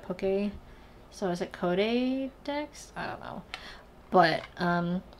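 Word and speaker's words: Codédex: called codex um and it's kind of spelled like Pokedex except code instead of poke so I was at code Dex I don't know but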